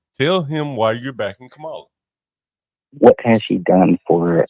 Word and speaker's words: Kamala: How are you supposed to pronounce her name? Kamala.